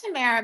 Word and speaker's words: Tamara: Yeah, it's Tamara, babe.